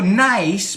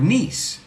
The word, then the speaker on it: niece: And he oído nice por niece.